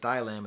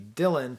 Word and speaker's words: Dylan: you might not know why does he pronounce it like dai lam and it should be dylan it's a reference to